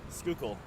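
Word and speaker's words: Schuylkill: how do you pronounce the name of this River skookle skookul skookul ice cream cone yeah exactly ice cream cone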